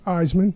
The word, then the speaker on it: Eiseman: Eisman. Eisman.